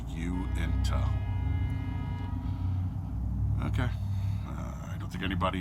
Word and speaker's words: Uinta: better with DES or Uinta as it's supposed to be pronounced you into okay I don't think